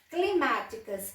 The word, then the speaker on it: climáticas: Climáticas, a sílaba tônica é má. Cérebro, esqueci de pôr o acento aqui. Cérebro. Então, as duas palavras, a sílaba tônica é a antepenúltima.